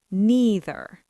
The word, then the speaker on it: neither: Generally speaking, in American English and Canadian English, the most common pronunciation uses the long e sound either and neither.